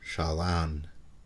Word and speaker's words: Chelan: the state of Washington the lake is still called Lake Chelan pronounced Shalon meaning beautiful water long